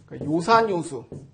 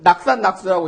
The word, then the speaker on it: 요산요수: 그때도 이거를 낙산낙수라고 읽지 않고 산을 즐기고 물을 즐기는단 말인가? 그래도 뭐 말은 될 것 같지만은 그렇게 읽지 않고 좋아하다는 의미일 때는 도금이 요로 바뀝니다.